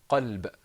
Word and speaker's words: قلب: So tell me, do you think that's muraqqaq or mufakham? Mufakham. Mufakham. Very good.